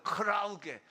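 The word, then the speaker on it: κραυγή: 자, 떠드는 것은 헬라어로 크라우게예요. 이 발음이 비슷하죠. 크라우게.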